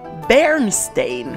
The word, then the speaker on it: Pernštejn: footage for you the word bernstein is actually quite a tongue twister even for checks how would bernstein sound yeah that's correct that's the original pronunciation and it means what